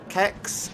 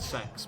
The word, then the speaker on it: CeX: Do you pronounce it Kex? C-E-X? Sex? I believe it's pronounced. I'm told it's pronounced sex, but I'm like, why though?